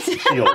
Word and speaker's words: Sheffield: Don't pronounce the F in Sheffield. Yeah. What? Shield. Which one? It's shield.